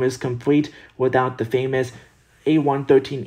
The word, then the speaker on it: A113: complete without the famous a113 easter egg pronounced a1-13 a113 refers to the